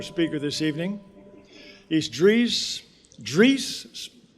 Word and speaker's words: Dries: He's Dre Dre pronounced like Greece.